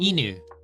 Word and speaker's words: 犬: 犬 Inu.